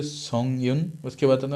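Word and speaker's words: Song Yun: Spelling भी बताता हूँ, SONG, उसके बाद स्पेस रहेगा, और YUN, उनका भी प्रोनाउंसिएशन होगा सोंग यून, ठीक है।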